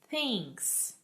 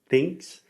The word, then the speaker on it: thinks: this in sound school, what's the difference between when I say it correctly and say thinks? What am I doing with my mouth?